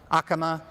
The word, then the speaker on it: Acoma: Past Acoma, they pronounce it Acoma over there, not Acoma. Acoma.